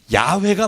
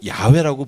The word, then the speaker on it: 야훼: 고고학을 하다 보니까 아하 원래의 모음은 야훼가 맞다. 아하고 그죠? 회 발음이 가장 이 구약 시대에 하나님을 불렀던 발음과 일치한다. 그래서 여호와라는 것을 이제 안 하고 야훼라고 부르게 됐어요.